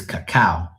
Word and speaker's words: cacao: Then it says cacao. Like c a c ao. It's like pronounced differently.